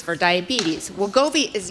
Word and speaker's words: Wegovy: So I can't pronounce the other one. Wegovy? Wegovy.